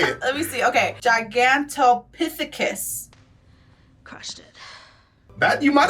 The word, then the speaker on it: Gigantopithecus: Gigantopithecus.